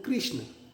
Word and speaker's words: कृष्ण: तो हमारे यहाँ पर इसको ई की ध्वनि हम बोलते हैं कृष्ण, कृष्ण, ई री की बात है।